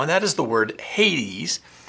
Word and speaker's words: Hades: that is the word Hades. Some say the pronunciation is Hades because there's a Greek god who is pronounced, the name is Hades or Hades.